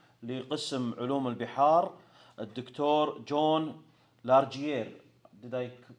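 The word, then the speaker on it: Largier: حياكم الله وبياكم في قسم علوم البحار للمحاضرة الشيقة بإذن الله سبحانه وتعالى مع الدكتور الزائر لقسم علوم البحار الدكتور جون لارجيير. Did I pronounce it correctly, Doctor?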